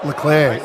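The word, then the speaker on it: Leclerc: duck what was that leclair is leading the grand prix that's how you pronounce it like eclair the clan that's not the clerk no so mcdonald's remote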